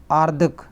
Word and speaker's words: आर्द्रक: आर्दक। ध्यान रखिए, आर्दक आर्दक आर्दक, ध्यान रखिएगा, जिस पर रा लगता है ये ऊपर, उसके पहले उसका उच्चारण होता है, तो ये आर्दक होगा।